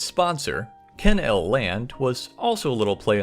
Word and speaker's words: Ken-L Land: primarily after its sponsor Ken L land was also a little play on the Disneyland name too as you could also pronounce it kennel land I'm really hoping that